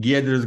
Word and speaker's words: Giedrius: My name is pronounced Giedrius. It's a very Lithuanian name, as I'm from Wix's Vilnius office.